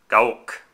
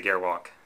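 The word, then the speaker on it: Gerwalk: you pronounce gwalk well if you wish to be authentic to the way they pronounce it in Japan it is um GOwalk but for us filthy foreigners we can just just say gwalk because it it it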